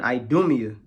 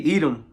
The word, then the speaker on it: Edom: it shall come down upon idia okay Edom that's how you say it in Greek and upon the people